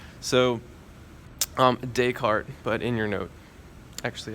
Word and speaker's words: Descartes: it is pronounced to Descartes because believe it or not he is not from America so you don't pronounce his name as if you were American so um Descartes but in your note